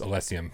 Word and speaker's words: Elysium: It's pronounced Elysium.